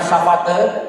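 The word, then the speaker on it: savate: Jadi tulisannya safate tapi membacanya safat karena itu bahasa Perancis.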